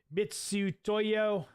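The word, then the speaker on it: Mitutoyo: like 80 bucks Felix F pronounced as mitsu Toyo like Mitsubishi uh mitsu Toyo yeah I I I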